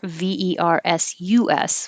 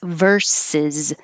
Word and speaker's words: versus: vs is abbreviation for v-e-r-s-u-s which is versus which means against it's also the same pronunciation of v-e-r-s-e-s which is part of a song versus o z is